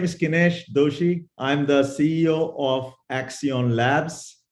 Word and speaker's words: Kinesh Doshi: Today, we're very excited to have as our guest Kinesh Doshi, who is the CEO of Accionlabs. Did I pronounce that correctly?